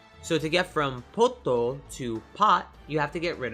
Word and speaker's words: Toppo: you see in Japanese topo is pronounced well just like that with a hard o sound tole pull but not